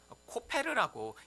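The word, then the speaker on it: כֹּפֶר: 그런데 사실 이 역청이란 단어도요, 히브리어를 읽으면요, 코페르라고 읽는 단어입니다.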